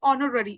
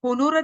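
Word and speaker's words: honor: for example य देखो ऑनर जब इसको मैं प्रोनाउंस कर रही हूं तो इट इज ऑनर इसमें एच जो है वो क्या है साइलेंट है आप इसको होनोर तो नहीं बोलोगे ठीक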